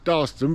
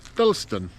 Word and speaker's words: Dalston: Carlisle, which is, well, I call it Dalston, but they've been pronouncing it Dalston.